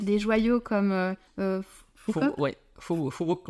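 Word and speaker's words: Phú Quốc: Phu Quoc on dit en vietnamien, mais Phu Quoc, si on doit Voilà. le prononcer à la française.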